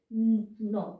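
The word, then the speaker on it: know: তাহলে কে এন এ ন উচ্চারণ হলো, এখানে কে সাইলেন্ট, কিন্তু কে এন থাকলে আমরা ন বলবো।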